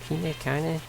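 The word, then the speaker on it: Kainé: name um and you've got his kiney they pronounce it as kanye and i know you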